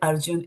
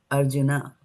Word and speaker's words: Arjuna: do that and So in Sanskrit Arjun is Arjuna because Arjun in your in the Bhagat Gita you will see that written like that.